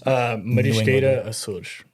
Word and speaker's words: Marisqueira Açores: Because you said it with the Portuguese accent. That's the only way I know how to say it. How would a Massachusetts? Marisqueira Açores.